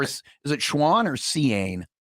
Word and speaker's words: Cian: I actually know someone that spells it Cian, like CIAN. That's also a way to spell Sean. I think it's the Irish way of spelling Sean.